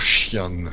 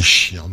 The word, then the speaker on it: Xian: théorie, il y a eu une petite discussion, et d'après Reverse, on devrait dire Xian. Xian. Donc Donc. le XI est plutôt, se prononce plutôt comme un CHI, quoi.